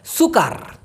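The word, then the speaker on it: sukar: ইউ কে এ R video করলেই মনে পড়ে উচ্চারণটা হবে সরসু কয় আকার র সুকার এই সুকার মানে হচ্ছে কষ্টসাধ্য মনে করেন একটা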